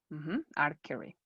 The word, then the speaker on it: archery: correct archery are curry archery in english sometimes you pronounce this ch and sometimes you don't but normally like the ch is like no you say our curry archery like you say architecture you don't say architecture